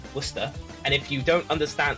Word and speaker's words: Worcester: well that's good that's fine he obviously can't pronounce the location it's worcester and if you don't understand like all the